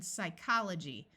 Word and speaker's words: psychology: F like in laugh when a word starts with PS the p is silent like in Psychology notice the CH uses